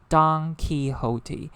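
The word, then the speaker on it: Don Quixote: is pronounced as red don ki hote so red like the color red donkey like the animal donkey so this is an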